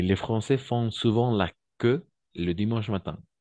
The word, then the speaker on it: queue: Français font souvent la queue vous comprenez font souvent la queue on va prononcer que d'accord oui c'est bizarre